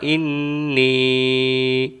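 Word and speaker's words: إني: আল্লাহুম্মা ইন্নী, এবং নি বলে এক আলিফ টান দিয়ে পড়ব।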